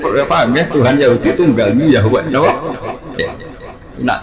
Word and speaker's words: Yahweh: Tuhan Yahudi tunggal Yahweh napa? Ya. Nak tengejaan Latin Y besar A H besar W E H Yahweh.